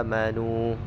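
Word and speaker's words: آمنوا: Yang pertama yaitu pada kalimat amanu. Nah, itu namanya wasal badal. Jadi alifnya dibaca sepanjang 3 alif. Jadi Imam Warash membacanya wa basyiril ladina amanu.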